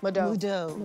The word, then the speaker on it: Moodeaux: How do we pronounce it? Moodeaux? Moodeaux. Like Papa Do's.